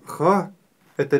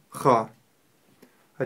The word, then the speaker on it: خ: Буква Х твердая. И у нее есть характерный хрип. Х. Х. Х. Х. Не следует ее произносить мягко, хе или хэ. Нет, мы ее произносим твердо. Ха.